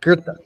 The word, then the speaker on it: Goethe: be an R, and it's not a TH sound, but a T sound. Yeah, someone also says no R, it's a EA sound. So it's that's Gita? How Americans pronounce it. Gita? Goethe.